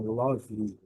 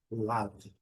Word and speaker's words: love: Talvez no Brasil, mas fora é a melhor pronúncia, love, love. O último som, o som do V, love, love, love. Um som bem curtinho, love, love. E o último som é o som da letra V.